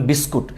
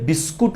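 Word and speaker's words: biscuit: করি তাহলে আপনারা বলবেন বিস্কুট কারণ ইংরেজিতে এটাকে এভাবে লিখি আমরা কিন্তু আপনারা অনেকেই হয়তো জানেন না আমরা যে এটাকে বিস্কুট উচ্চারণ করি এই বিস্কুট উচ্চারণটা একটা ভুল উচ্চারণ দেখেন বিস্কুট ভুল উচ্চারণ আজকের পর থেকে দয়া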